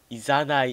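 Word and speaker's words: 誘い: 誘いと読んで、さ、火と書いて、いと読む、多分誘いですね、これ。あ、いざない。違った。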